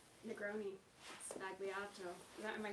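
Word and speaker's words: Sbagliato: going around about Negroni Spagliata. Am I pronouncing that correctly? Spagliato. Oh my god, that was so wrong.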